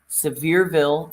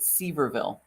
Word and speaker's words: Sevierville: coming to you from sevierville tennessee sevierville tennessee spelled severville if you're from the north if you're from the north you would pronounce it ceverville and i see we